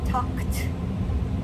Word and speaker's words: talked: What sound do we hear? talked. It's a K T.